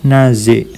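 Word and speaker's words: nager: suka berenang prefer na Ya naz huruf r tidak diucapkan ini juga yang e di belakang juga tidak diucapkan Ya prefer zadorizine zadorizine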